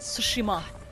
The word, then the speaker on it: Tsushima: tsushima oh watch out i think the t is silent because someone's bound to see us at the beginning he said sushima i i hope i'm